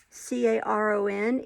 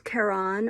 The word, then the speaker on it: Caron: how it's pronounced um c-a-r-o-n is carron or caron um m-a-n-d-a-l-a the yarn